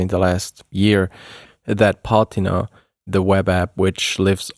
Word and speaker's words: Patina: Um this is a Swiss product and in Switzerland we say patina.